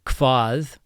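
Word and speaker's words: hvað: So Hvat again hv sounds like kv.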